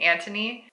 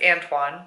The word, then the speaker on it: Antoine: I was pronouncing Anthony, but it's Antoine.